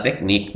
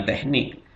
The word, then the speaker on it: teknik: Misalnya kalau tulisannya teknik, ya dibaca yang benar adalah teknik, bukan lagi teknik.